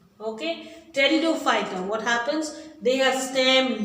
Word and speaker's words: pteridophyta: The third group, pteridophyta of cryptogams, non-flowering plants. Okay, pteridophyta. I'm saying, pronouncing with T, but the spelling starts with P. P is silent here. Okay, pteridophyta.